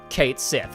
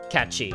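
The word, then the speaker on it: Cait Sith: The name's Catchy or Kate Sith as everybody incorrectly pronounced it when they played it in the '90s. And as they kept the pronunciation in the English dub, cuz that's what everybody calls him anyway. Even though the correct pronunciation of this is Katchi, as I'm sure you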